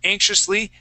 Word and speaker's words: anxiously: And then anxiously, yeah, that X and I is going to make a sh sound, anxiously, okay?